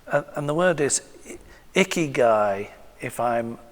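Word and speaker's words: ikigai: I've heard him speak a few times and and the word is icky guy if I'm pronouncing it correctly.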